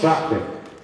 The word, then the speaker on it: Шахты: ударение на первый слог? Шахты? Да. Город Шахты.